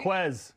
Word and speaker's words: Quiz: And I think that Quiz, and am I saying it right? Is that what they say? Quiz, right? Quiz, yeah.